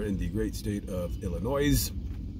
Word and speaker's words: Illinois: the great state of Illinois. Don't pronounce the S.